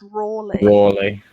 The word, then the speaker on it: Raleigh: It was like it's spelt like Raleigh, but it's pronounced Rawley.